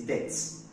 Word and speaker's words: debts: of tablets it is not that it is debts debts not that so it is that's the bees silence and it's not pronounced the same way as this this is